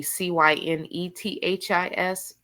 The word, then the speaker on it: Cynithis: But it's supposed to really be Cynethis, but the nurses thought that my mom could not spell Cynthia.